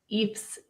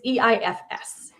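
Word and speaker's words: EIFS: to be using the Eeps system I don't yeah I you actually pronounce it sorry what say that name again it's e ifs so exterior insulation something system e yeah it's like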